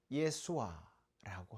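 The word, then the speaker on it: ישוע: 외침이라고 할 수가 있습니다 예수님의 이름을 히브리어로 예수아라고 합니다 오늘 호산나 아고 외치는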